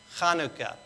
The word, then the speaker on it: Chanukah: makes the ha sound it's literally hanukkah that's the right way to say it chanukah and so that letter has the huff sound we don't have it in english that sound uh